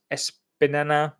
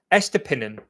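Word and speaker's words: Estupiñán: Now to the last point on this uh pervis espan I can't even say his name espinan espinan that's it pervvis espinan a Brighton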